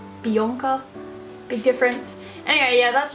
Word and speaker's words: Bianca: A little pet peeve, obviously I'm Australian, we pronounce it Bianca. I get really annoyed I guess when Americans and even Canadians pronounce my name Bianca.